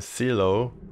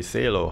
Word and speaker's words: Seelow: I mentioned Seelow, pronounced it wrong of course. It's actually Seelow Heights.